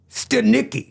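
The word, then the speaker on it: Stanicky: Stanicki. You got it. I did. Mm-hmm. I wrote it phonetically.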